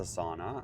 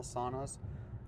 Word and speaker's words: sauna: I have some friends who've made their own like log cabin style saunas. Uh, the Finnish pronounced them sauna. Uh, the joke is if you say sauna, you're not going to be invited back.